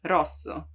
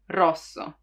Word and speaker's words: rosso: R, R, it's rolled, right? R, R. You have to make it vibrate. You don't have to prolong it too much, rosso, but it still has to roll, rosso.